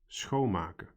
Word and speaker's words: schoonmaken: They are pronounced as follows: dicht doen, meenemen, ophalen, schoonmaken. Did you notice that in all cases the stress or emphasis in pronunciation was on the first syllable?